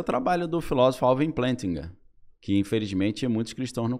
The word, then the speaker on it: Plantinga: Alvin, o sobrenome se escreve Plantinga. Só que Alvin se fala Plantinga.